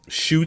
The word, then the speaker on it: Ncuti: Shooty.